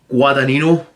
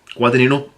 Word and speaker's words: Guadagnino: We know that it's directed by Call Me By Your Name director Luca Guadagnino. I really hope I pronounced his name right. Guadagnino. Pardon me, sorry. I think it's Guadagnino.